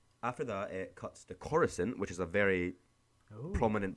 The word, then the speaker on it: Coruscant: I say Coruscant. I think that's how Qui-Gon says. Because that's when he goes like, "I'm taking these prisoners to Coruscant."